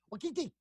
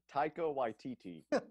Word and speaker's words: Taika Waititi: How do you say it? I call him Takiwaki. What do you call him? Takiwaki. That's not it? That's not even close? No? Thomas, say it, man. Taika Waititi.